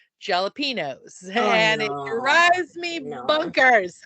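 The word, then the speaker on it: jalapeños: they'll say jalapenos but they always say ha with a h even though it's spelled with a J and they say any before the N because there's a little T on the top of the N little squiggly Mark but I have heard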